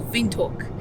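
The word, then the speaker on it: Windhoek: we are now leaving vindu that's yeah correction on the pronunciation uh W they pronounce it as V so VTO and we're on our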